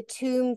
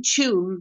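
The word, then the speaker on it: Tuam: And the place, the town is Tomb, T-U-M-E, I think, or T-U-A-M, Tomb. Yeah, 2 UAM, tomb.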